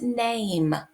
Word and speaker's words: name: This last one is name. A, E. That silent E makes the A say its name. Therefore, it also says long A sound.